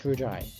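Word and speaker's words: Ryuji: It's Rujai. Sorry, it's Rujai, ain't it? I keep forgetting how they pronounce his name.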